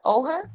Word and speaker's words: Oher: name yeah Michael Oher oh her you say it like that oh and Michael Oher